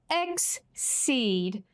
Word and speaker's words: exceed: So we say it like S, but we write it with the letter C. Exceed.